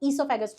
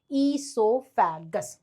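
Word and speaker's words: oesophagus: esophagus. O is silent. आप O ना भी लिखो तो चल जाएगा. esophagus.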